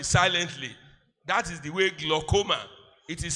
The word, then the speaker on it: glaucoma: kills the body silently that is the way gloma it is spelled g l a u c o m a gloma glaucoma is the hypertension of the eye